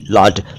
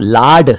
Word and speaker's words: laud: एक शब्द है लॉर्ड, LAUD, लॉर्ड। लॉर्ड का मतलब है तारीफ, प्रशंसा। इसको अगर आप लाड लिख या बोल देंगे तो लाड आप जानते हैं, लाड प्यार या लाड़ प्यार कोई और ही शब्द है।